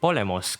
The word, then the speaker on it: Polemos: His codename is pronounced Polemos, quite fittingly meaning war or battle.